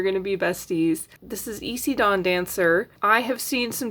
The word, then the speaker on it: Isi: But if anybody is curious and they haven't heard the name out loud, it is pronounced Isi according to the show.